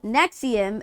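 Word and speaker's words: NXIVM: chick from Smallville it was it called Nexus but it was spelled weird Nexium that's what it was it was called Nexium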